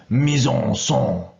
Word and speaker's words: mise en scène: I believe the correct pronunciation is mise en scène.